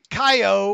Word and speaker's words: Caio: whoa right hi guys my name is Caio or pronounced Kyle haha first of all